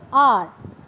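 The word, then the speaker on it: hour: अब लेकिन इसका जो फर्स्ट लेटर है वो एच है, ठीक है, लेकिन इस आर में एच हमारा साइलेंट है, और हमने क्या बोला इसको, आर।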